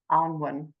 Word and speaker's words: Annwyn: So I know, look, it's tricky because it looks like Anne, you know, and everyone wants to just go Anne, but it's pronounced Annwyn.